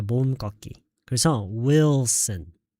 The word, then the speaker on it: Wilson: 리을을 아예 하지 말고요. 그냥 모음 꺾기로 하세요. 모음 꺾기. 그래서 Wilson.